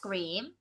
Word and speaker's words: cream: Chữ cream này mình đọc ngắn như thế là toang luôn âm y dài rồi. This ice cream, ngang cái miệng ra.